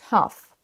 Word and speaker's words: tough: Le tout premier, on ne sait pas trop comment le prononcer, ce OU, on a envie de dire touf, tof ou je sais pas quoi. Ce mot veut dire difficile, compliqué, et voilà comment il se prononce.